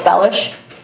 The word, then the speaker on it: Bellish: Sorry, Go well, first of all, it's Bellish. Since day one, people have been mispronouncing the last name and it's driving me crazy.